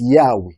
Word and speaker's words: Yahweh: to the view that the more correct way to pronounce the Divine name is Yahweh we chose the form